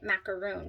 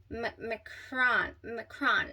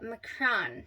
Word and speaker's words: macaron: Like that's, I mean, that's how I pronounce it, macaroon. But no, and that's a different cookie, I guess. So this is a macaron, M-A-C, like K-R-A-A-N is how you pronounce it. So it's a macaron.